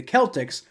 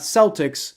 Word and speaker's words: Celtic: be it should be it should be the Celtics like cake not Celtics like Circle right it that that's that's the